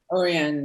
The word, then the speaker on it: Orianne: Is that how you pronounce it? Orianne, yes. Orianne, that's so beautiful.